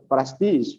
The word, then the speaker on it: prestige: Why the pronunciation is prestige?